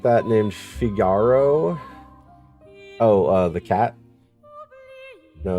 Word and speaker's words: Figaro: There's no normal way for Figaro. Figaro. You have to say it when you roll your R's.